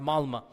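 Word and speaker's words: Malmö: And in Stockholm, if you have 10% Muslim, I was in the city of Malma. Malma is it's spelled with an O, but it's pronounced Malma.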